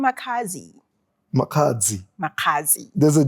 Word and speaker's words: Makhadzi: pronounce Makhadzi, I It's- don't hear the D. I don't. You don't hear the D, ne? Pule, I miss you. It's silent, that one.